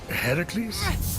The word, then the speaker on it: Heracles: you doing there that thing with your voice Heracles yeah that that is how it's supposed to be pronounced seems like a lot of work but